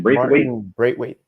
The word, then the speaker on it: Braithwaite: Braithwaite.